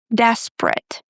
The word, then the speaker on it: desperate: Fortunate, desperate. In the word desperate, we drop the second e.